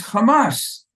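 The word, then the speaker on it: חמס: word for violence is kamas it's not like changing the transliteration that's what the Hebrew it says and that's how you pronounce it it's the exact same sounding word.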